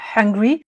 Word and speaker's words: hungry: to be donc I'm hungry où là on prononce bien le H et bien c'est je